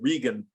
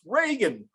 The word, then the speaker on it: Reagan: you uh berated her for pronouncing ronald reagan's name wrong because she said regan and he yelled out from the audience it's reagan who says regan and everybody was hysterical when i was talking